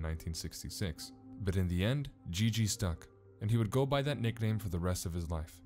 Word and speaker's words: GG: Jesus eventually became known as Gigi, since Merle Jr. was unable to pronounce Jesus correctly.